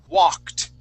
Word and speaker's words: walked: one is the word walked okay so this word right here it has an ed ending that Ed sounds like a t walked okay you see that